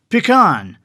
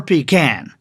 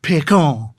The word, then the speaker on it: pecan: And our most famous tree nuts are pronounced pecan, or pecan. We do not use the French pronunciation. We do not say pecan. That sounds stupid.